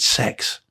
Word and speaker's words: CeX: call it CeX right apparently you pronounce it sex I assure you doesn't